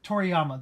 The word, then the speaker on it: Toriyama: To Toriyama. That's right. I was going to say Toriyama, but I'm like that doesn't sound right.